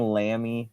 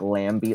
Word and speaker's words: Lambie: Someone was saying lammy nipples, like me. lamb nipples. Yeah, and then I decided we should pronounce it like Lambie, like Bambi, but it's like Bambi's stripper name is Lambie, so Lambie Lambie nipples.